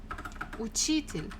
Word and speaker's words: учитель: Next one, номер 4, учитель, учитель, учитель, a teacher, учитель, учитель. Again, second syllable.